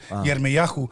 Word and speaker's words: Yirmiyahu: Like I always wanted to name one of my kids Jeremiah, but when I found out how to pronounce it in Hebrew is Yirmiyahu, I'm not going to call him Yirmiyahu, Yeah.